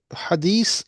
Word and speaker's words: Hadith: But how come all the imams and ulamas, that majority of them, when it comes to hadith and hadith, they never say hadith or hadith. They say hadith, and they don't say the way it's supposed to be.